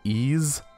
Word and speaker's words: Ys: I think this is called Ease. An old friend of mine told me it's pronounced Ease, even though it's YS.